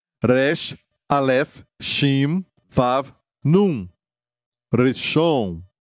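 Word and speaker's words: ראשון: Reshon quer dizer primeiro. E se escreve assim, em hebraico, da direita para a esquerda: Resh, Aleph, Shin, Vav, Nun. Reshon.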